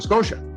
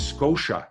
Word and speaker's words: Scotia: nova scotia s-c-o-t-i-a scotia my father can pronounce she he can make the sound shu but to him nova scotia is nova scotia nova scotia because it's t-i-a he cannot break the